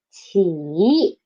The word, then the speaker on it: 起: Initial is 起 and the final is 一 and the tone is third tone. So 起.